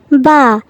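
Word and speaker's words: ب: এই হরফটির নাম হলো বা। এটা আমরা দুই ঠোঁট মিলিয়ে পড়ব। আবার বলো, আমরা একটু লক্ষ্য করি, এই যে এই ছবিটার মতো এভাবেই আমরা দুটি ঠোঁট মিলিয়ে বা উচ্চারণ করব।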